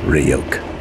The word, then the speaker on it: Ryuk: It's pronounced Ryuk. Ryuk.